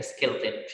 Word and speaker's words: skeleton: كلمة skeleton يعني هيكل عظمي، اسمها كده skeleton مش skeleton، أخدناها في كورس الكونكس أو إن ما بنطقش الأو.